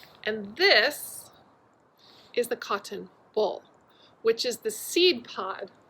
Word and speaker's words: boll: is called the cotton boll. I know, that's a weird one. Boll. Boll, ball, but I'll spell it for you. It's spelled a little bit differently than you might think.